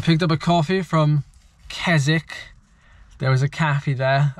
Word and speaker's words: Keswick: rather I was saying Keswick and I was saying Windrose and I should have been saying rhos like not pronouncing the W you don't pronounce the W so it's kazic now you think some